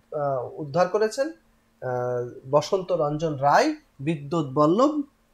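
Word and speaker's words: বিদ্বদ্বল্লভ: এই নামে উদ্ধার করা হয়েছিল, কিন্তু পরবর্তীতে এই কাব্যের যিনি উদ্ধার করেছেন বসন্ত রঞ্জন রায়, বিদ্যুৎ বল্লভ। কি নাম? বসন্ত রঞ্জন রায়, বিদ্যুৎ বল্লভ। বানানটা একটু দেখবেন, বিদ্যুৎ বল্লভ বানান, এবং উচ্চারণটা একটু খেয়াল করবেন।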